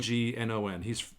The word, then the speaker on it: Gagnon: So Robert Gagnon, is that how you say his name? Yes, Gagnon. He's someone that I've been reading. Gagnon. It's a French name.